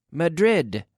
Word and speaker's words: Madrid: mother e where did you dig Oh Madrid Madrid right we have to pronounce the last syllable and I heard I